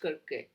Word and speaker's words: Circe: I know that in Greek it is pronounced Kirke, but I have heard all kind of pronunciation. So I will go with Circe maybe.